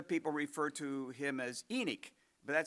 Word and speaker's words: Enoch: Enoch is the way that I grew up hearing it. Um, Josh tells me that in Hebrew it would be Enoch.